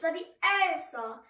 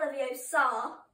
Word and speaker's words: Leviosa: Besides, you're saying it wrong. It's Leviosa. It's not Leviosa.